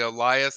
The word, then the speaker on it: Elyis: you pronounce his name I know it looks like Elise but it's actually Elias that's how you pronounce his name but I think uh